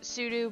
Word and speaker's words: sudo: It's technically supposed to be pronounced as if it were spelled pseudo sudo because it stands for substitute user do.